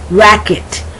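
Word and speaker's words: racquet: plaque masquerade okay masquerade racket r-a-c-q-u-e-t i'm not saying the k-w sound i'm saying just the plain hard c sound hard c sound or the uh k sound antique critique check now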